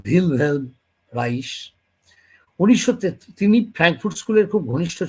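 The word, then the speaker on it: Wilhelm Reich: 1933 সালে উইলহেলম রাইখ, সম্ভবত জার্মান ভাষায় উচ্চারণ ভিলহেলম রাইস, তিনি ফ্র্যাঙ্কফুর্ট স্কুলের খুব ঘনিষ্ঠ ছিলেন।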